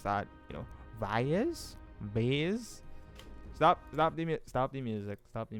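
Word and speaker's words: Vaes Dothrak: Vase? Stop the music. Stop the music. Let's see if Google can help us. Vase. Vase? Vice. Voice. Dothrak. Vice Dothrak. Pronunciation. Vias, apparently, is how you pronounce it.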